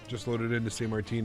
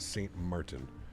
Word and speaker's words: Sint Maarten: to be weird but since Martin is sort of pronounced Saint Martin yes Saint Martin Saint